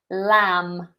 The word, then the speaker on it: lamb: And then, lamb. Lamb, and that's a silent B.